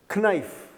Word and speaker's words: knife: Silent K is the killer. Knife.